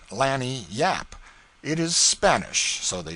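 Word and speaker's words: lagniappe: expressive handy word lanyap they pronounce it Lanny Yap it is Spanish so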